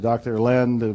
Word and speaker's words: Len: I've shortened it from E to Dr. Len, but it's actually Dr.